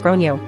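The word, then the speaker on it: Gráinne: At this point, the alarm bells are ringing in my head because I've realized that the kid is called Grain, generally pronounced as Gronyo, or thereabouts.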